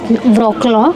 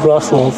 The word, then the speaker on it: Wrocław: Basically, in English, it is Wrocław, but in Polish, it is actually pronounced as Wrocław.